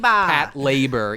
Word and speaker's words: Patlabor: in the late 90s, patrol and labor fuse into Pat labor. It's the very first dialogue. So. Anybody saying Patlabor probably hasn't watched it. It is incorrect.